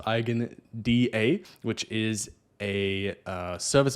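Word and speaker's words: EigenDA: look at next is ien sorry igen I think it's pronounced igen da which is a uh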